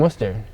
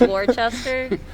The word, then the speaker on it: Worcester: So you guys are from Worcester, if I Yeah. I'm saying that correctly. Actually, it's Worcester. Oh. Yeah. Worcestershire. I've lived here for so long, and I've always been saying it wrong, man.